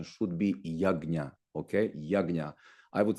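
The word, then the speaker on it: यज्ञ: it yya is it Yaga or is it yagya so a compound G is pronounced as G okay so correct pronunciation should be Yaga okay Yaga I would say uh in a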